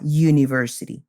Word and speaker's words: university: have some exceptions for example we say a university not an University a university because the u